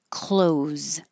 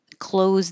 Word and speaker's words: clothes: Clothes. Clothes that you wear sounds the same as close the door.